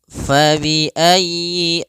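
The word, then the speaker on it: فبأي: Fabiayyi alai rabbikuma tukadziban marajal bahraini yaltaqiya bainahuma barzakhul laa yabghian. Fabiayyiuma tukadziban pada lafal fabiayyi ala di sini sempurnakan huruf y-nya ditekan faayyi kemudian langsung ke a.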